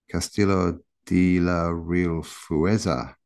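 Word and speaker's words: Castillo de la Real Fuerza: Castillo de la Real Fueza.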